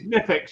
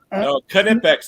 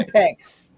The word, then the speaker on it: Knipex: Is it, I see it's Nifex in it, Klaus. Yeah, it's called Knipex. Yes. Yeah, Nifex. Yeah, it's No. No, Knipex. You got to pronounce the K. Knipex.